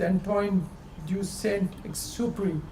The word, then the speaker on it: Antoine de Saint-Exupéry: His name is Antoine de Saint-Exupéry. It's a French name, so I try to pronounce it properly.